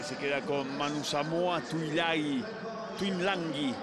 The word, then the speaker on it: Tuilagi: La cámara que se queda con Manu Samoa Tuilagi, como se pronuncia realmente en su lengua natal, con una N que no existe, que no está escrita.